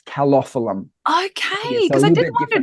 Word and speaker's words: Calophyllum: No, it's not colophyllum, it's calophyllum.